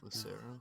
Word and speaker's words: Lucero: by Lucero Lucero how do you say it Lucero yeah Luc that's what I said uh Vince